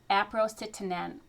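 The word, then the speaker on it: aprocitentan: It's spelled A P R O C I T E N T A N. Aprocetan.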